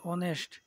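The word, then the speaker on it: honest: আমরা জানি কনসোনেন্ট হওয়া সত্ত্বেও উচ্চারণ যদি বাউলের মতো হয় তাহলে এন বসে, অর্থাৎ অনেস্ট। এটা বাউলের মতো সাউন্ড হচ্ছে, অর্থাৎ এখানে এন বসবে।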